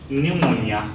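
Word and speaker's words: pneumonia: हैन just cupboard then न्युमोनिया P is silent raspberry receipt and cow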